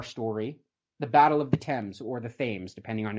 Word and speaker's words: Thames: This culminates in the apex of our story, the Battle of the Thames, or the Thames, depending on, I guess, your pronunciation.